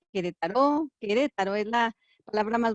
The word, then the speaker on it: Querétaro: Sí, decía yo ayer que Querétaro, pero es que uno puede pronunciarlo con acento, sin acento. Querétaro, Querétaro es la palabra más bonita del español, que significa juego de pelotas.